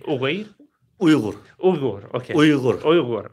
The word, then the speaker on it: Uyghur: Did I pronounce that right? Uyghur? What did you say? Uyghur?